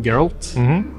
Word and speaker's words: Geralt: En uh, litt sånn tre minutters lang Tre minutter lang video med uh, Geralt. Det er sånn man uttaler det, ikke det? Geralt.